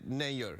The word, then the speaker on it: Nayyar: like actually an endo you pronounce it nay you're like mayor like no mayor you